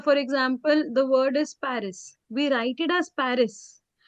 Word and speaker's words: Paris: Emily, she always say Paris. And it's not like they write only Pari. They write it the complete word, but they do not pronounce the last letter.